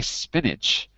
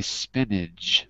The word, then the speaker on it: spinach: So because I don't say spinach, I say spinach with a j, like John.